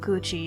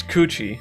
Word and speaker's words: Gucci: You're the only person on Earth bidding on 70-year-old Gucci and Air Jordan vintage reps, Fran. Yeah. It's Gucci, not Gucci.